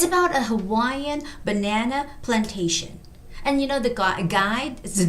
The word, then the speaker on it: Hawaiian: We don't have any stress. But in English, it's got to be Hawaiian. Hawaiian.